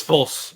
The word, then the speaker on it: Fulce: False. Yes. It's pronounced false, but I've been called